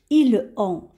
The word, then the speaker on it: ils ont: Aussi, on ne va pas prononcer de cette façon parce qu'on va faire la liaison, c'est-à-dire qu'on va relier la dernière lettre du pronom, c'est-à-dire ici le S, avec la première lettre, ici la nasale.